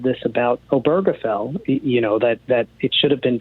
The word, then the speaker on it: Obergefell: Texas and I always mispronounce this. Obergefell.